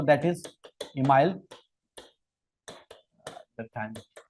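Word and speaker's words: Durkheim: फिर अपने नेक्स्ट जिन्होंने स्थापित किया सब्जेक्ट को, दैट इज इमाइल डर्कहाइम। कोई दुर्खीम पढ़ रहा है, कोई दुर्खाइम पढ़ रहा है ना, नाम में प्रोनाउंसिएशन में कोई प्रॉब्लम की बात है नहीं। Email डर्कहाइम।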